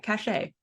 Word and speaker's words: cachet: of books, and they have some solarpunk social cachet as a result of it, because that's probably another word I say wrong. You say it right, cachet.